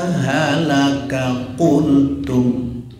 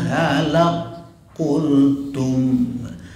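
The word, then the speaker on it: هلك قلتم: Kita biasa membaca seperti ini. Hatta idza halaka kuntum, ya kan? Oke. Yang sebenarnya yang masyhur menurut kebanyakan para ahli ahli qiraat sebenarnya bacanya begini. Hatta idza halak kultum, halak kultum, kafnya hilang, bukan hilang sebenarnya, kaf itu masuk, kan idgham itu masuk.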